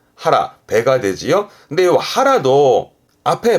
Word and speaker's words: 腹: 뜻으로 혼자 있으면 배를 의미할 거고 발음은 그렇죠. 하라. 하라.